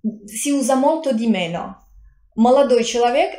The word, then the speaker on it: молодой: Молодой, giovane, молодой, pronunciato come молодой.